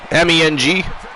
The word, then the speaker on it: Meng: Ming, like Meng. Yeah. Yeah. M-E-N-G? Yep. Yeah, it's Meng.